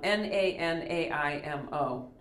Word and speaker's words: Nanaimo: N-A-N-A-I-M-O, Nanaimo, after the island, Nanaimo.